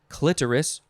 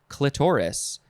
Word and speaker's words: clitoris: about our last word it can be pronounced a couple of ways i think people probably uh argue one way or the other but both are fine it is clitoris or clitoris c-l-i-t-o-r-i-s noun from 1615